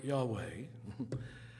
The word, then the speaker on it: Yahweh: do you know that when you correctly pronounce the consonants used in the sacred name it in fact does not allow you to close your lips or to use your tongue in fact if you perfectly pronounce the word Yahweh it will imitate the sound of inhalation and exhalation oh my god this